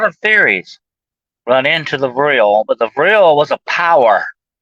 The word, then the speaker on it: Vril: It's spelled V-R-I-L, Vril.